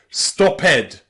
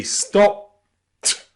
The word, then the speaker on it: stopped: We don't say stopped. We say stopped.